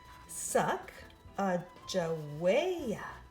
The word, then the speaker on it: Sacagawea: has a fancy name sagawaya you say it like this suck a joy later miss glass has